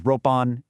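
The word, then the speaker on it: 六本: One is ippon, six is roppon, eight is happon, and 10 is juppon.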